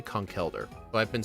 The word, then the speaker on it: Conkeldurr: conkeer or conkyor, but it's spelled c o n k e l which is conkel. And if it was l e, then it'd be con. So yeah, it's definitely coneler.